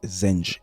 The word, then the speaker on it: Zanj: Je vous remercie parce que dans la première dans le premier documentaire, je disais la révolte des anges. Je disais les anges et c'est les zenges. On va apprendre aujourd'hui qui étaient les zenges, pourquoi se sont-ils révoltés ?